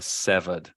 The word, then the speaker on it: severed: that's pronounced seven okay the pronunciation right there severed like the the adjective is severe which is probably why you thought yeah but when we